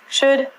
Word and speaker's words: should: pronunciation on ink vidcom all of these ELLs are silent so it sounds like should good and the thing